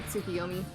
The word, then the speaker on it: Tsukiyomi: like iterations on that name but it's usually tsukiyomi i'm i am so bad with pronunciations alright so carbon got through those two